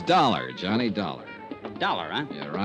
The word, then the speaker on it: Dollar: It's Dollar, Johnny Dollar. Dollar, huh? Yeah, it rhymes with collar.